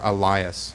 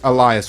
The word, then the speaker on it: Elias: this is uh or Elias I always pronounce that incorrectly because it looks like Alias so this yeah this is Elias with tracing circuits here